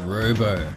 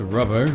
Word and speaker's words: Robbo: a full playthrough of this is Robo spelled r oo you think it would be pronounced rubber but it ain't this one was released